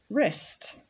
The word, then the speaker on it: wrist: Wrist.